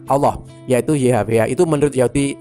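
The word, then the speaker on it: الله: Pada saat diterjemahkan kata YHWH adalah 4 huruf juga, yaitu alif, lam, lam, ha atau ALLH, bacanya Allah, yaitu YHWH itu menurut Yahudi itu sepadan dengan Allah.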